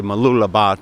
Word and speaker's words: Mooloolaba: it right oftentimes I'll say that in say Mooloolaba to a local and they will they'll detect